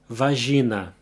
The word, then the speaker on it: vagina: The only thing that changes is the pronunciation of the middle syllable. Instead of jai, it's ji. Vagina.